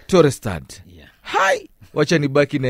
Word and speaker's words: Torosterdt: How do you pronounce this one? Torosterdt. Torosterdt.